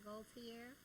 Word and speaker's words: Gaultier: Gaultier.